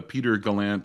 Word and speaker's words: Peter Gallant: is galant or gallant or I answer to practically anything but uh Peter Galant is the most common pronunciation.